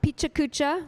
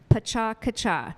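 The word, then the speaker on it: Pecha Kucha: really hard to pronounce so it's not picha cucha which is what I've been saying for many years it's Paca kacha so on the count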